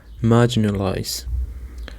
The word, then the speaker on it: marginalize: The stress is on the first syllable. Marginalize.